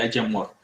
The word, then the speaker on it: IAmor: Generamos también un proyecto que se llamó Ayamor, ahí lo ven escrito como Iamor y le dimos esta pronunciación de Ayamor.